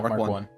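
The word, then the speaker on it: Mk 1: I thought is it pronounced Mark? MK1. MK1? Yeah, Mark 1.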